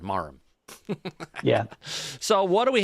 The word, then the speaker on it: Marham: marham yeah probably yeah that H is silent marham yeah so what do